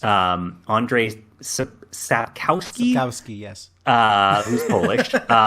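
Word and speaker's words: Andrzej: I think it's just pronounced Andre? Yeah, it is. Andre Sapkowski, Sapkowski, yes.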